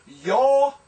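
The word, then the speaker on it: יוֹמַיִם: This is yomayim, yod, holem with the vav, mayim with patak, yod with hirek, and final mem.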